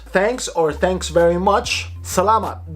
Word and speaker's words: Salamat: Salamat. Just because it says M-A-T, don't pronounce it as salamat. No, if you want authenticity, salamat. You don't say apple, you say apple, but in this sense, mat.